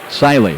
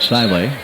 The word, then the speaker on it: Seeley: Siley is the way they pronounce it, Siley.